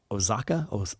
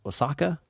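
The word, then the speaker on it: Oaxaca: it is carmen molina from the state of osaka osaka o-a-x-a-c-a i'm thinking that is how you say it but i don't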